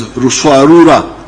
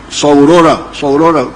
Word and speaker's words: Ruswarura: There was a notorious chief in Buzinza, known as what I came to understand as Ruswarura. When you read, I think it is Speak, understand, they write Saurora, but they were mispronouncing the name.